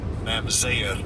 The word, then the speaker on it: mamzer: It is H4464, and I'll give you a pronunciation. Strong's H4464. Mamzer.